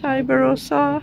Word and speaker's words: Iberostar: Is that how you pronounce it? Iberostar, yep.